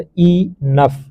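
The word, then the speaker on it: enough: इनफ, ई एन ओ यू जी H pronounced ई नफ।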